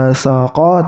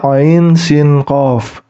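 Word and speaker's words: عسق: Ain Sin dan qof bukan dibaca asaqa tapi dibaca Ain Sin qof untuk mana yang panjang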